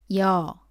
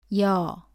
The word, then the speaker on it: ㅕ: 쓰고 위에서 아래로 씁니다 발음은 2 에서 시작해서 어로 이어서 발음합니다 따라해보세요 여 여 다음은 요 입니다 요는